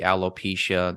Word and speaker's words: alopecia: Alopecia, that's how it's pronounced. I always mispronounce it.